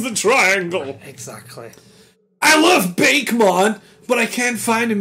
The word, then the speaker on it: Bakemon: I love Bakemon, but I can't find him anywhere, and I'm looking to get stoned. It's not Bake. I know, it's Bakemon.